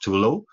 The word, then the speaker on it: Total: name a to low sorry to low hotel always pronounced to low and they want to